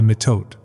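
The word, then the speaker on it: mitote: Your whole mind is a fog which the Toltecs called a mitot, pronounced M-I-H-T-O-E-T-Y.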